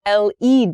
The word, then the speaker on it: led: the past tense of that verb is lead LED d l Le has the same pronunciation as the noun form of l e